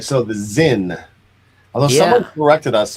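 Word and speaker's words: Sinn: corrected us on the last episode that it's supposed to be pronounced sin, but I don't think so. I've always heard No, it. it's Zin, I believe.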